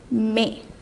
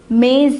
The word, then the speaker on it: mes: So what would you write instead of mo? We would write may. I hope you remember this. We learned this in the last session. So for mo is for a masculine singular noun. Now since we made this into its plural form, mo becomes may.